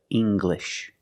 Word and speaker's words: English: When you have an L after it, it makes the G sound, like English. Make the hard G, English.